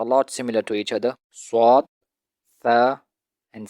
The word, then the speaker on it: ص: Swad is a thicker version of sin. More space above the tongue is left than below to pass more air from above the tongue. Swad is pronounced by making rounded lips like an O shape. Sin is pronounced like you want to smile.